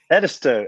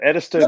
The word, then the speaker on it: Edisto: Tommy Kane and uh shame on me uh pronounce the name of the beach where you are Edisto Edisto beats South Carolina Edisto Beach South Carolina if